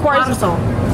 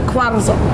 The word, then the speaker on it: Quarzo: Chuarzo. Suarzo? Quarzo. How do you pronounce it? Quarzo. Ooh, say that again. Quarzo.